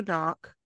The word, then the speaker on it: Knoche: So, Kara Knock, it's spelled Knoche.